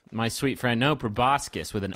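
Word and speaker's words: proboscis: uh well in this fantasy Universe maybe it's pronounced probiscus no no friend you're embarrassed it's not probiscus my sweet friend no prascus with an O Jes probiscus is a flower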